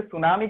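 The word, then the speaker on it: tsunami: इस तरीके से सुनामी का टी साइलेंट होता है, एस यू से स्टार्ट होना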